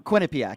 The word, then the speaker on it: Quinnipiac: Quinnipiac, yeah.